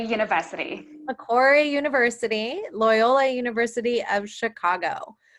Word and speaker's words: Macquarie: remind me leanne one more time how to pronounce correctly please macquarie university macquarie university loyola university of chicago so i'm excited